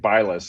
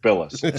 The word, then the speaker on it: Bilas: So they would say Agent Bilas, and then I would have to say no, it's Agent Bilas, special agent.